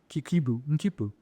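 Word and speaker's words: quipu: They had the little Kipu. And again, just like China, please go look at how that's spelled.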